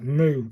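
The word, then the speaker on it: む: This one's pronounced like moo, as in move. So it's moo, isn't it? It's a moo sound.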